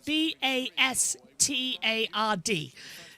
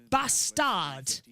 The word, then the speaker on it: Bastard: a swear word but it's the way you pronounce it in French do you know what